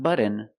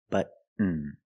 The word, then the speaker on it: button: cotton candy button button not button it's button stop tea and fall to the end but push a button